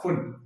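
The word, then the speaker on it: Pfund: English में इसको पी फुंड लिखा रहता है, तो पी साइलेंट होने का हिंदी में उसको फुंड श्रेणी ही कह देते हैं।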